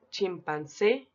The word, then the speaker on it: chimpancé: Observamos que la palabra que posee la mayor intensidad o la mayor fuerza de voz en la última sílaba es la palabra revés.